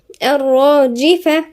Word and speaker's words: الراجفة: الراء راء هنا مشددة ومفخمة. الراجفة.